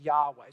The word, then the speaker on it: Yahweh: to stick with the Yahweh that's how they see it in fact most scholars say that is the best way to pronounce these four consonants Yahweh so for our purposes